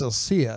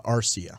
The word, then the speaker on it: Arcia: against the Rangers yeah I think it's Elsia I think I'm gonna trust your judgment on that brought us a c i a as I say it wrong spell it wrong you're right I think you're right but anyway yeah the guy's hitting like an eight nine hole type of a hitter and you know and he's like going three going yard 50 something yeah uh arcia arcia I'm sorry about that I didn't mean to